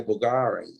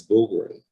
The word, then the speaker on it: Bulgari: yeah yeah see a lot of people say bulgari that's not bulgaria it's boogery yeah so i i i i got corrected